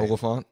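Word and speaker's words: Olyphant: Oliphant.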